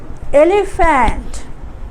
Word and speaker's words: elephant: feel elephant elephant students notice here elephant here there is no f but here p is its pronunciation will be f like f okay so we pronoun we say elephant so we say ali fant okay thank you students